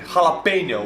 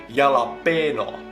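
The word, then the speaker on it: jalapeño: they buy them but they say tortilla cuasatilla no it's tortilla and jalapeno we say yalapeno estones cannot pronounce mexican things but thank you mr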